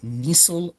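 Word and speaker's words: Nissl: uh to form dark colored uh structures called nisil bodies uh capitaliz the N and Nissil N I SSL named after the dude who discovered it.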